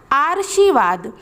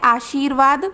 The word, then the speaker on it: आशीर्वाद: लेकिन यह गलत है अगर आप इसे उच्चारित करेंगे तो यह हो जाएगा आर्शीवाद क्योंकि आधार राज यहां पर ऊपर लगा हुआ है तो इसका उच्चारण पहले होता है तो अगर हम इसको सर्च करेंगे तो यह क्या बन जाएगा आर्शीवाद इसलिए यह गलत है इस प्रकार से लिखा